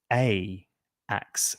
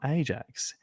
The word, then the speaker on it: Ajax: Purely for edu national purposes is pronounced Aax, not Ajax.